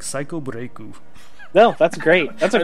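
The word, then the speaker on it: サイコブレイク: It's called Psycho Break instead of The Evil Within, and you pronounce it in Japanese like Psycho Breaku.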